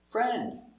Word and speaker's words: friend: This D is almost silent because it's after the N and D.